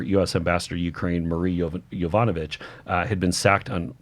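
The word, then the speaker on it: Yovanovitch: And also keep in mind that Kent also had whed that former US ambassador to Ukraine, Marie Yvanovich, uh had been sacked on I pronounced it correctly that time.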